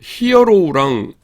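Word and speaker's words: ἱερόν: 히에론 ?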